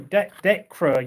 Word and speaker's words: Dekra: Was it Dacker? I can't remember, but yeah, Derker. Yeah, thank you. Dekra.